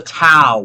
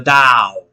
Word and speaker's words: Dao: the tao or the dao. When I grew up, it was Tao with a T. All right, which in the Wade Giles, it really should be pronounced Dao according to the Wade Giles system.